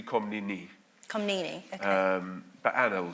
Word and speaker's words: Komnene: Well, so normally in English we call her Komnene. Komnene, okay. In fact, it should be Komnene.